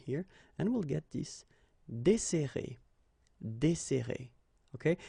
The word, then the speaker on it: desserrer: and we'll get this desserrer, desserrer. Okay, so we've got this double S, so it will open the sound of the here. That's the reason why I pronounce it like E.